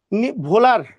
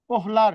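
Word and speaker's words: Wöhler: ভোলার, ওই যে ফ্রিডলিক ভোলার, ওই যে ভোলার অথবা ওহলার, যেটা উহলার, অনেকে উহলার অনেকেই লেখে, কিন্তু মেইন উচ্চারণ হচ্ছে ভোলার।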